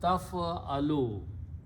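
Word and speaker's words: تفعل: If you want to create the English of you will do, all you do, put a ta with a fatha in the beginning and pronounce taf'alu. You will do.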